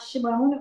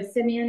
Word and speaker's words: Simeon: Ruben was first born what about Shimon or Simeon as you say and levie or leevy Levi how you pronounce it these are verses